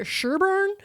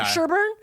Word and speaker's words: Sherborn: I think they pronounced that Sherburn. It sounded like Sherbet when they were saying it. Okay. Sherburn.